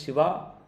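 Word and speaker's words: शिवा: In name, one is Shiva and the other is Shiva. Shiva and Shiva. Remember the accent on the A at the end.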